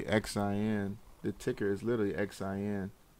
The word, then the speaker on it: Xin: it's a it's a Chinese company called Shing doing real estate Shing winglet real estate you don't have to spell that one for me yeah yeah I know it's always is X I in Y you a in real estate so this is literally xin the ticker is literally